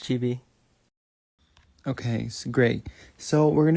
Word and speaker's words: CHBXI: It gets confusing since it has an X like out of nowhere, but yeah, it's pronounced Chibi.